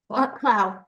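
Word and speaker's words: Clough: She still teaches an occasional graduate course for Boston College Clow. How do you pronounce that? Clow.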